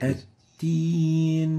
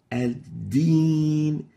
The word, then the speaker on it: الدين: Like at-teen, at-teen, at-teen, instead of ad-deen. Id is the right way, id. And it is wrong. So the proper way of pronouncing this is like this. الدين. So you need to make sure not to mix the dal with the ta. Ad-deen.